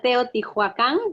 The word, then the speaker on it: Teotihuacán: Teotihuacan in Mexico. Ahí está, muy bien. You pronounce well, pronunció bien. Did I say it right? Ya, almost, 80% good. Okay. Good job. Tenemos a Teotihuacán en México.